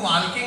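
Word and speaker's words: walking: करते लाल किंग करेंगे मैंने कहा शंभु वॉकिंग नहीं वॉकिंग होता है टॉकिंग नहीं टॉकिंग होता है इसमें ल साइलेंट आता है असर मैंने अपना ज्ञान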